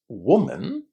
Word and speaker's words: woman: So in singular, when we say one woman, the vowel sound in the first syllable is u.